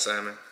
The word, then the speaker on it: salmon: Blackened salmon? Yeah. Oh, and stop pronouncing y'all L's. Stop pronouncing y'all L's when y'all say salmon in 2022 and beyond.